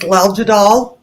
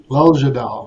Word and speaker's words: Leljadal: Hello, it's Leljadal, 3 syllables. Leljadal.